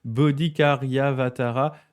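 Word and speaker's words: Bodhicaryāvatāra: rappelle les versets de alors attende je vais prononcer correctement bodikariavatara de ah oui chantia ouais ok ah ouais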